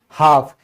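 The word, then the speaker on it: half: फिर है आधा, यानी कि हाफ। इसमें क्या है? एल से पहले ए आ गया तो ये भी क्या हो गया? साइलेंट हो गया।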